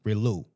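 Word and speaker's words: Rillieux: for 1843 and 1846 under Norbert um, RLU. The X is is silent.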